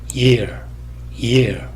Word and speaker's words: year: 이런 식으로 발음이 되고, ear은 마찬가지로 성문 파열음이 삽입됩니다. 그래서 ear 이런 식으로 발음이 되고, 이거는 year 여기는 성문 파열음이 삽입되지 않는다는 그런 차이가 있습니다.